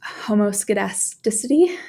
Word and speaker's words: homoscedasticity: And this is pronounced homoscedasticity.